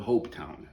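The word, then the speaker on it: Hopetoun: I had in Western Australia it's town called Hope Town that's spelled hope h o p e t o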